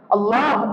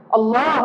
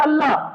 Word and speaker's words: اللہ: بولنا نہیں آتا ہے، اس لیے کہ جتنے بھی لوگ اللہ بولتے ہیں لفظ ہی غلط ہے۔ اللہ یہ صحیح لفظ ہے، اللہ یہ صحیح لفظ ہے۔ ہم جو بولتے اللہ، اس کا معنی یہ